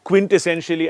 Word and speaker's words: quintessentially: is it pronounced quintessential you can break up the word quint and essentially if you're having a